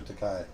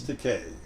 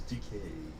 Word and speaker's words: Takei: Takei. And he goes, actually, it's Takei. Rhymes with okay. The name's Takei.